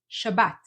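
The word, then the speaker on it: שבת: Sabbat to the end Shabbat and lastly if you're saying Sabbath with a th change it to a t Shabbat sh T at the end stressing the last syllable Shabbat and there these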